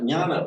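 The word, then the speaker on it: jñāna: in Sanskrit, jnana Yeah. is the jna, which in English is, well, it's the same word in English, isn't it? Except we write it with a kna, when we say no,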